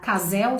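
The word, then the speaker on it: CASEL: criou esse sistema que é o case né assim que se pronuncia casal se eu vou ler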